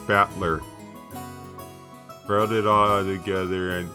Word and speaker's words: Battler: Whereas my given name, Babadoobadoo, is made up of the characters for fight and person, and it's pronounced Battler.